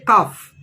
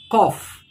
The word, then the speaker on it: cough: Now we don't say cough. We say it cough. The pronunciation spelling is KAWF.